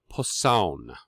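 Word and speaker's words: Posaune: italian it's trombono and in german it is poisson p-o-s-a-u-n-e um so if you ever see that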